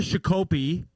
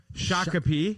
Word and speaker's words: Shakopee: yeah get down to chicopee is that how you say it no shakopee yeah there you go